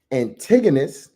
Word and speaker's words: Antigonus: Seleucus, Antigonus, and Cassander, right? Huh? Right? You said you spell it out? He said slow it down. Slow it down now. Thank you. So Ptolemy, Seleucus, that is Seleucus, Antigonus, that is Antigonus, and Cassander, that is excuse